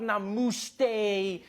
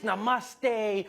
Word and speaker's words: namaste: on like dude it's not namaste it's namaste who messes up namaste this